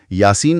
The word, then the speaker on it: Yaseen: जहां तक उच्चारण की बात है तो अरबी में इसे यासीन कहते हैं। या को थोड़ा खींचते हैं और सीन पर जोर देते हैं और स की आवाज नरम होती है।